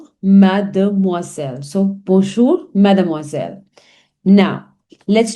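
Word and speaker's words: mademoiselle: So whenever there is S surrounded by two vowels, it gives the sound of Zed. As I've already explained in my previous lessons also misel.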